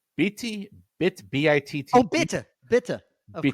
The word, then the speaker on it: bitte: I'm going to mispronounce this pronunciation. It's bitte, B-I-T-T.